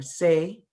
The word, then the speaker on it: Tsai: That would be Tsai, or Say. What is the correct pronunciation? I'm sorry. Tsai. Tsai, I had it right the first thing.